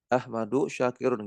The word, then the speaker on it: Ahmadu Syakirun: dan Syekh Ahmad Syakir ahmadu syakirun gitu cara bacanya Ya karena ini e nama yang murakab namanya nama yang murakab maka kita lihat ya Isim ee